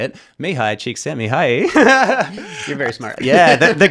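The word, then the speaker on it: Mihaly Csikszentmihalyi: I know how to pronounce his name, which is like 80% of why I'll say it. Mihai Csikszentmihalyi.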